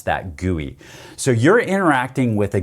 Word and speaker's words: GUI: a graphical user interface or really call it guey for short even though it's GUI we pronounce that guoy so you're interacting with a guey on most